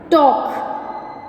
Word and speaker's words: talk: Second one, talk. Second one is talk. Yes, in this word also L is a silent letter.